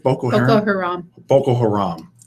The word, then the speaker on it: Boko Haram: American military officials say 2 of the world's most feared terrorist groups, the Islamic State and Boko Haram, have begun to collaborate more closely, raising alarm that they are working together to attack American allies in North and Central Africa.